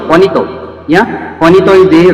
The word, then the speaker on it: Juanito: Juanito. Actually, that pronunciation in Spanish is Juanito. Juanito. Yeah? Juanito is the right pronunciation of Jonato, what we are pronouncing.